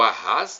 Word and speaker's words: Arras: bispo de Reims, para Arras, França, ou Arras, né? França, normalmente a sílaba tônica é a última.